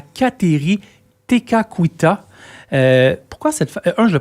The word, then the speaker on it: Kateri Tekakwitha: À Kanawake, on va pouvoir aussi découvrir le sanctuaire qui va être dédié à Kateri Tekakwitha. Pourquoi cette femme... je le prononce bien?